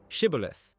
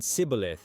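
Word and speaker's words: shibboleth: So they used a word shibilith, a Hebrew word meaning stream or ear of grain. The Ephraites couldn't pronounce the esh sound. Their dialect didn't have it. They said cibilith instead.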